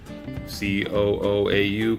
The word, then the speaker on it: COOAU: This camera is, I don't really know how to pronounce the name. It's like C-O-O-A-U-A or something to that effect. Cooau, I guess is the proper pronunciation.